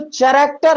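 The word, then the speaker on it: character: बहुत से लोग कैरेक्टर बोल देते हैं। क्यों बोल देते हैं? क्योंकि उन्हें नहीं मालूम है कि यहां पर एच साइलेंट है, तो हम कैरेक्टर बोलेंगे। क्या बोलेंगे भैया?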